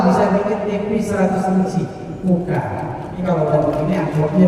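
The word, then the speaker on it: Coocaa: Kalau nonton TV cocok bacanya Koka. Tulisannya cocok. Koka. Bacanya Koka.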